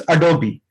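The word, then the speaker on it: Adobe: Download करते हैं, और इसको बहुत से लोग अडोब रीडर बोलते हैं, but this is नॉट अडोब, this is अडोबी.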